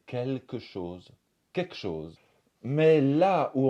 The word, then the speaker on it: quelque chose: du salon on va dire souvent quelque chose au lieu de quelque chose quelque chose mais là